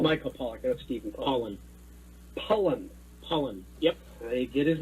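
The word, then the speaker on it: Pollan: Michael Pollock. Michael Pollock, that's Stephen Pollock. Pollen. Yep. I get his name wrong every time.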